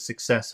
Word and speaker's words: success: And which syllable is very important? Success. No, that would be success. Wait, success. Success. Okay, success. Oh no, you're right. Wait. I'm You're right. It's the final syllable.